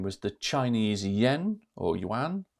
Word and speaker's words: yuan: 13 was the Chinese yen or yuan, how it's pronounced.